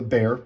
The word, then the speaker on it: Bexar: But a lot of people, not just for the Rockwall, but also for the Bear, the thing that's spelled like Bexar, their little slip joint,